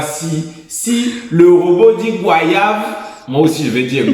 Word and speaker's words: goyave: sort le vrai débat mais en France métropolitaine la prononciation standard est goyave approche-toi c'est d'ailleurs souvent la seule qui est donnée dans les dictionnaires dictionnaire je parle pas